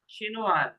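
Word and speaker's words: chinoise: শিনোয়াস, ই যোগ করলে তখন এস পর্যন্ত উচ্চারণ হবে, আর জি ই যোগ না করে এসটা হচ্ছে ফাইনাল লেটার। তাহলে এখানে শিনোয়া, কারণ ফাইনাল লেটার আমরা উচ্চারণ করি না, এখানে ফাইনাল লেটার চিনোয়া হচ্ছে এস, এখানে ফাইনাল লেটার ই ও।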